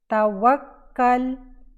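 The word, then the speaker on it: توكّل: काफ फता लाम कल, तावक्कल, तावक्कल। लाम जो है आखिर में वो साकिन है। तावक्कल, तावक्कल, तावक्कल, वक्कल। दो काफ आपने प्रनाउंस करने हैं।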